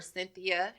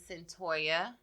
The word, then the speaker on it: Cyntoia: So last week I pronounced the girl's name wrong. I think I called her Cynthia. Her name's Cyntoia Brown.